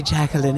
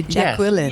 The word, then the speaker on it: Jacqueline: But I love the way you Americans say Jacqueline. It's lovely. You sort of really go for the Q, don't you? You say Jacqueline.